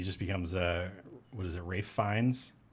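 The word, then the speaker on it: Ralph Fiennes: Rafe Fiennes? Is that how you say his name? Mm-hmm. Yeah, looks like Ralph.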